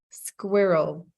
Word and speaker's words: squirrel: practicing um no the the hardest word is squirrel squirrel two syllables not squirrel squirrel yeah still jane doesn't